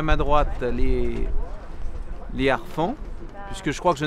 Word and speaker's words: harfangs: Les harfans étant un mot d'origine franque, et le H qui se prononce comme un H aspiré, n'est-ce pas? Tout à fait. Voilà, donc les harfans bien d'origine franque, donc pas de liaison avec.